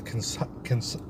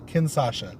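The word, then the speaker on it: Kinshasa: So, AJ Styles, reversing the Kinshaza? Am I saying it right? Kinsasha. Kinsha. It's Kinsasha. Say Kin. And then Sasha Banks. Kinsasha. Shut up. That's how you say it.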